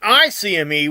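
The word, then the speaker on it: ICME: all right so the the technical the right way to say it would be I CME when it's coming to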